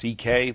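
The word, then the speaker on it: Szekely: My Hungarian grandfather's name was CK, but it's spelled, it looks like S, it's a mess. It's S-Z-E-K-E-L-Y, and it sounds like CK, though.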